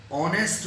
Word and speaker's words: honest: अगर कॉन्सोनेंट से लिखा गया है और उसका प्रोनाउंसिएशन वॉवेल से है, for example ऑनेस्ट बॉय, HONEST, first letter H है।